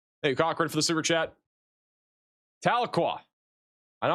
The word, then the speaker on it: Tahlequah: You pronounced Tahlequah correctly.